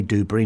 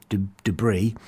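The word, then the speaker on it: Duberry: Amario Kosia Dubbury and that's how you pronounce it by the way Dubrey not Dubris uh was Michael Dubbury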